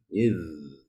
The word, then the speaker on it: إذ: Pak Aris diperbaiki pengucapan huruf za ketika sukun ya. Jangan dipantulkan ya. Idz tabarra'a ya. Jangan sampai id.